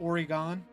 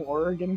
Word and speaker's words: Oregon: it's Oregon but I've heard I've heard people pronounce it origon uh how okay look look look or okay people that are from Oregon called oreganos No you're you got a orgon